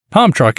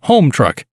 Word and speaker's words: Homtruck: million battery swap procedures pump truck is probably meant to be pronounced home truck as it comes equipped